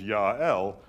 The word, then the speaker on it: Jael: In fact, Jael, as its own name, probably almost certainly means mountain goat as a single syllable. But were it broken into two syllables, Ya'el, it is, of course, Yah or Yahweh is God.